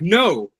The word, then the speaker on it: know: Like know. I know. I know. Okay. But it that's how it sounds. That's how exact because the K is silent. You don't hear the K.